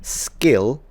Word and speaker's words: skill: you're pronouncing the word skill skill the word skill the K is not aspirated so you go skill skill skill skill skill but the